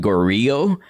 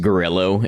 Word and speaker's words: Gorillo: When I first played the game, I I pronounced it gorillo because I assumed it was like Latin in origin, but no, it's just gorillo. It's just like a gorilla but with an O, and also it's a totally different animal.